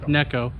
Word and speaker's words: Neko: rig i got corrected necco um some people pronounce it as nico but it is pronounced as necco and it does get